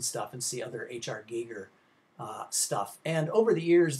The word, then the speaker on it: Giger: Giger, as it's pronounced, and full of lots of very disturbing